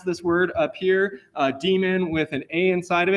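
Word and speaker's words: daemon: of it at front it's still pronounced demon though and not uh Damon so this is uh the docker demon that it's referring to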